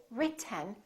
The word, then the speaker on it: written: moving our tongue down so we don't say written we don't say rit we say just move